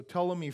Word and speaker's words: Ptolemy: we looked at the Ptolemy family it's it's gotta pee have you got that right there the Ptolemy family but that you don't pronounce the piece o Ptolemy family they were in Egypt